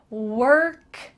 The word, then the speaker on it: work: It has an O, but it sounds like W-E-R-K. Work together.